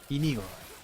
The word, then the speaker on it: Inigo: Inigo. You got to say it like that.